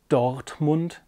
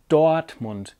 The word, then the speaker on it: Dortmund: region it's very typical to hardly pronounce the R in the middle of a word at all so it's not Dortmund its Dortmund it's almost as if there was an a after the oh it's not sport it's